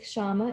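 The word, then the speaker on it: kṣamā: of stability resilience forbearance the sanskrit word is Shama it's spelled KSA MA and please do one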